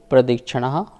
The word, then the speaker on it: प्रदक्षिणा: चतुर्थ अध्याय का सूत्र नंबर 13 है मेरु प्रदक्षिणा। शुद्ध उच्चारण करने के लिए आप प्राग के बाद थोड़ा सा जो ये है यहाँ स्वराघात करेंगे तो यहाँ पा का साउंड आएगा।